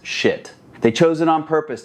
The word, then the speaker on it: Schiit: The name itself, yeah, it's pronounced Schiit.